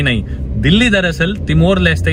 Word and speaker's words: Dili: जी नहीं, दिल्ली दरअसल Timor Leste या फिर ईस्ट तिमोर देश की कैपिटल और लार्जेस्ट सिटी है।